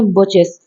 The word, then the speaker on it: Birches: ठीक है, इसका राइट प्रोनाउंसिएशन है बचेस।